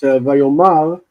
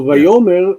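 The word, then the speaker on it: ויאמר: The difference is that Vayomar has a stop. So Vayomer would normally be followed by the subject.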